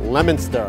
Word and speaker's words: Leominster: Leominster. Leominster. It's not Leominster or Leominster, it's Leominster.